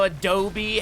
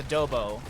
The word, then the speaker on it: adobo: as he is uh unseeable I didn't know Adobe had chili as yeah that I was actually that's my dad corrected me and he was saying it's adobo well that's that's the easy easy English way